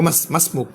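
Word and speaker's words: ما اسمك: আরবের মধ্যে বলা হয় যে ও মাসমুক, মাসমুক তোমার নাম কি, তোমার নাম কি, এভাবে তারা আলিফ এটা উচ্চারণ করা হয় না।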